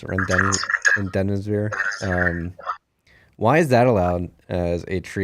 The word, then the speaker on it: Remdesivir: I can never pronounce it. Remdesivir.